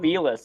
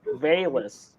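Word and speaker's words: Velus: pronouncing his name wrong it's not felis it's veiless it's my bad bayless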